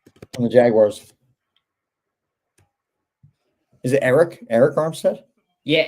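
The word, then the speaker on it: Arik: Is it Eric? Eric Armstead. Yeah, Eric. You pronounced it right. It's just spelled with an A.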